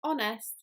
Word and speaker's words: honest: H at the start so the letter H is often pronounced in English in other words for example hamburger you pronounce the H but in the word honest you don't do that the next word is